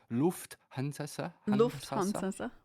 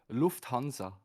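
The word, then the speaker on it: Lufthansa: No, it's actually uh Lu Hanza.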